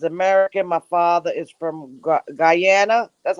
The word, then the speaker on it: Guyana: My father is from Guyana. That's how you say it, Guyana.